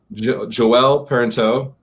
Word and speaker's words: Joelle Parenteau: And I have the author of those two articles, amazing articles, from Joelle Parenteau.